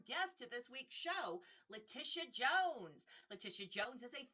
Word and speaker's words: Latisha: So my name's actually pronounced Latisha, so it's like, the E sound in the middle. I don't know why that I is there, but it's like transforming into a different sound.